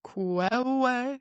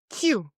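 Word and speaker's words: queue: How is this word pronounced? It's not kwewe, it's Q.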